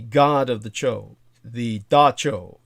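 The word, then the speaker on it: dab tsog: the entity the god of the cho the dacho d a b space tsog but pronounced dacho the one known in the barbarous tongue as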